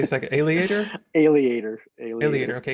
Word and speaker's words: Aleator: Alligator, okay, because it kind of rhymes with aviator. That's kind of why I like that one. Yeah, Okay. Yeah, creator, right. Same formation. Yeah, good point. So Alligator Press, which is a